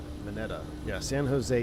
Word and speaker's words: Mineta: Mineta is Japanese name, and Japanese pronounce how it's spelled. Mineta.